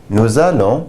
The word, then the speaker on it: nous allons: Je vais, tu vas, il va, elle va, on va, nous allons, vous allez, ils vont, elles vont. Notice the L's are pronounced here.